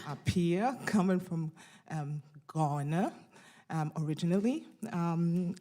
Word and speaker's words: Appiah: My name correctly pronounced is Appiah. Appiah. Appiah, coming from Ghana originally.